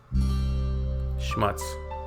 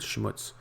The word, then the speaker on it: Schmutz: This one is pronounced and used the same way in both languages, and it means dirt.